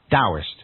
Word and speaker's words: Taoist: So it's written Taoist and pronounced with a D, Taoist.